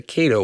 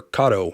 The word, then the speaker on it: Kato: the Cato or Kato however you want to pronounce it because I've heard it both ways I like the build